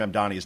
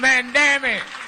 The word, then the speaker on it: Mamdani: But after he was introduced and this is the way Al Sharpton pronounced Zohran Mamdani's name and again, this is the greatest thing ever. CUT NUMBER 21 GO. ZOHRAN MAMDAMI.